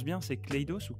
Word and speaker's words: Clayos: Je prononce bien, c'est Clayos ou Cledos ?